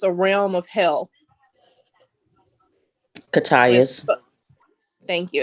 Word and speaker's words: Cocytus: the fields of, I don't know how to pronounce it, Cocytus. It's a realm of hell. Catius.